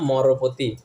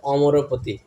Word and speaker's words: অমরপতি: লাইনে রমাশম্ভু ব্রহ্মা মরপতি একচুি শব্দটা উচ্চারণটা হচ্ছে অমরপতি ব্রহ্মা অমরপতি অমরপতি মানে হচ্ছে ইন্দ্রদেব অমরপতি মানে স্বর্গের যে রাজা তাকে বলা হয় অমরপতি ইন্দ্রদেব ঠিক আছে এখন এখানে হচছে মরবত এক ভক্ত ব্রাহ্মণ ভক্ত শাস্ত্রের পন্ডিত সমসিত পন্ডিত সে এসে একদিন বলছে যে এক ভক্তকে জগন্নাথের ভক্তকে তুমি এটা কি বললে মরপতি বললে এটা উচ্চারণ হচ্ছে অমরপতি পরের দিন ওইদিন রাত্রেবেলায়